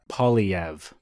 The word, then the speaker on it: Poilievre: The easiest way for an Anglo to say it is Poilievre.